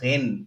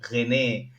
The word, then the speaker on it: Rennes: this is French like mostly we don't pronounce the end of the word and sometimes not the beginning either um yeah just like